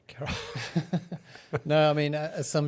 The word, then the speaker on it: Karol: Carol, sorry. Yeah. Carol with a K. Carol.